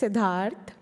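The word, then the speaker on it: Siddharth: oh really absolutely that worked so yeah it's sidhar and another name is s a m e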